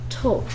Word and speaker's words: talk: 어리 s t 오케이 리스 10이 아니고 리 스펠링 조심해야 되고요네 크 크 W 아 l l k 케 이거 뭐였죠 Talk Talk 뭐가 소리 뭐 여기 애리 소리 안